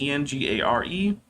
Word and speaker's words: Engare: I am going to be giving away a Steam key for Engare, I think is how it's pronounced. It's Engare.